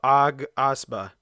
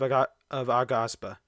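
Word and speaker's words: Aghasba: Next, Towers of Asba. I think it's pronounced Towers of Agaspa from Dreamlit.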